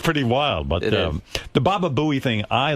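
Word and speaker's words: Baba Booey: But Ian Bolter tweeted Palter said enough of this Baba Buu stuff. And I I tweeted him back and said, "It's Baba Buoie, by the way, as long as you're going to spell it out."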